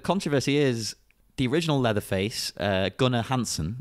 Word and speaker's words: Gunnar Hansen: But the controversy is the original Leatherface, Gunnar Hansen, is that how you pronounce it? Gunnar Hansen, yeah.